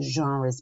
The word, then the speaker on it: genres: These are the genres. Be careful with the pronunciation here. It's a French one.